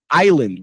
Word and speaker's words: island: Island. Where is the S sound?